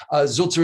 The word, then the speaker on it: Sulzer: Zulzer is spelled S-U-L-Z-E-R.